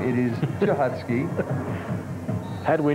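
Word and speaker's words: Cichocki: Damian Chahotsky. And by the way, we're not mispronouncing that young man's name. It is Chahotsky. Had we not been clued, we would be. Yes. C-H. or C-I-C-H-O-C-K-I, Chachotsky.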